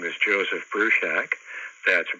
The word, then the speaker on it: Bruchac: for you okay hello my name is Joseph Bru Shack that's Bru Shack as in boiling up a small building and